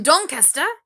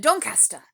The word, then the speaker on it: Doncaster: to be young and in love they're from don questa um caddy said they're from dawn caster did i pronounce that correctly and simon said simon kind